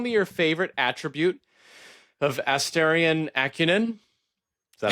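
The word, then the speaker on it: Astarion: So she's Asterion. So she's asking. Asterion. Did I say it right? Asterion Akunin? Is that how you say it? No, I don't think you said it right, but okay. Well, Asterion is right.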